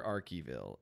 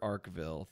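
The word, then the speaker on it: Arkeville: it's not he okay Vince carolli says Dr archival it is properly pronounced Dr arcville through most of the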